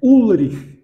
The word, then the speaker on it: Ulrich: o nosso amigo, é U-L-R-I-C-H. O CH no alemão tradicional, ele tem som de R, aquele R mais gutural que se diz, né? Ulrich, fica aquela coisa rasgada e difícil de pronunciar.